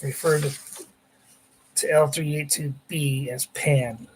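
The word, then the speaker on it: Pahn: The nat is refer referred to the planet as pan spelled p h sorry p a hn pronounced pan. Baroness Giler says spel pronounced pan p an like the pan frying like a frying paner says.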